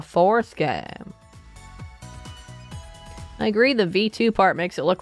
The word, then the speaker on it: VII: game starting at the seventh one oh it's actually not seven it's V2 is it how it's uh pronounced V2 this is actually the